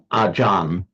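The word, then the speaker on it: อาจารย์: So that's how we get our charia becomes ajan in in the Thai pronunciation.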